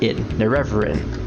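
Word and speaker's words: Nerevarine: And it's pronounced Nerevarin.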